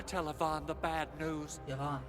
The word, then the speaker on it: Yvonne: Yvonne. Okay, that's how you pronounce her name. Not Yvonne, like everyone else on YouTube has been saying. Yvonne.